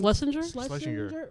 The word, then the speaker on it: Schlesinger: But Eliza Schlesinger, how do you say her last name? Schlesinger.